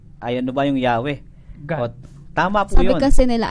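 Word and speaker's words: Yahweh: kaya bumangon ngayon yung Jehova yung ywa Jehova Jehova iba ibang pronunciation na pero basically sa ibang mga scholar yong yahwe yung pinakamalapit na pag tamang pronunciation po ng wikang ito at ito pong salitang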